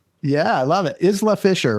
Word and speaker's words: Isla Fisher: Is LA Fisher, right?